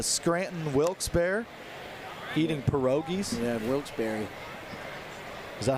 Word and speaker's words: Wilkes-Barre: Yeah, Wilkes-Barre.